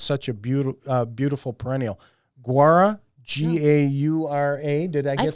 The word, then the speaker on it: Gaura: Guara Gaura. Did I get say that guara, right?